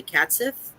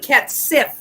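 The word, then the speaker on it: Cat sìth: It's CAT, so cat, and then dash SITH. Catsith. Oh, I thought you said catsif, as in friend. Oh.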